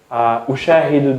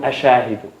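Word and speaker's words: أُشَاهِدُ: Because it's more easier for the Arabs to say ushahidu dun ashahidu. Ushahidu.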